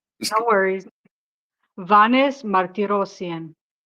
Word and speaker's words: Vanes: very sad situation um related to Varnz Varnz which I which I'm probably not pronouncing right Vaness I'll let you say his name since I'm not um no worries Vaness Martien very good